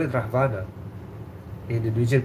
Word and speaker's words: Ravana: Oh, Ravana. Oh, okay, we call it Ravan. Oh, you call it Ravan. Okay, yeah. Lord Ram killing Ravan. Is it Ravana or Rahvana? We call it Rahvana.